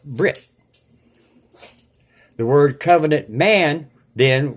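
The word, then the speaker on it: בְּרִית: word man means ish the Hebrew word for Covenant is pronounced Brit the word covenant man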